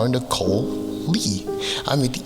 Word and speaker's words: Nicole: Now, the thing about Nicole is the E at the end of Nicole is silent. That's the point. It's Nicole. Without the E, the silent E, I think the name would be called call or something like that.